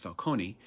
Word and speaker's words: Falcone: But others, like the crime lord Carmine Falcone, sometimes pronounced Falcone, and the Penguin, just laugh at him.